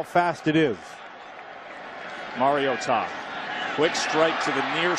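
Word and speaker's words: Mariota: So Marcus Mar-I-o-tah, and that is how you pronounce the name, because mom called from Hawaii, Matt, and said, listen up, folks, it's Mar-I-o-tah. Put a hyphen between that Mario and Tom.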